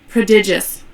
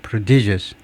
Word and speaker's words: prodigious: 그래지고 발음을 들어보면요. prodigious 아프 어 제가 액션 위치가 틀렸네요. 가 아니고 prodious 뒤에 두 번째 음내 prodigious prodigious prodigious 뜻은 뭐냐면 very large